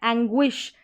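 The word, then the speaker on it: anguish: जैसे कि यहाँ पर देखें, यहाँ पर है एंग्विश, डिस्टिंग्विश, पैंगुइन। गुई करके पढ़ा जा रहा है इस GUI को, जो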